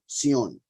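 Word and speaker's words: Zion: Roars from from cyan right xion the true pronunciation and he said Yahweh Roars from Sion and gives forth his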